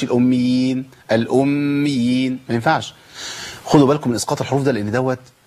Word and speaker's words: الأميين: ده عندي مشدد قبل الياء المشددة، يبقى لابد من بيان الايه؟ الأميين، ما اقولش الأميين، الأميين، ما ينفعش.